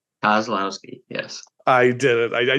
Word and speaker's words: Kozlowski: Kozlowski. I blew it. See, I said it beforehand. 3 syllables got me. Kozlowski. Kozlowski, yes.